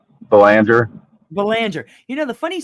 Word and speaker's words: Belanger: Belanger. Belanger. You know, the funny story is that my my grandmother's maiden name was Berlanger. So it's really, it was a really close pronunciation, but completely different spelling.